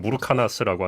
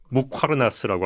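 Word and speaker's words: muqarnas: 발음이 어려웠는데 저도 항상 무르카나스라고 하는데 이제 무화르나스라고 하거든요.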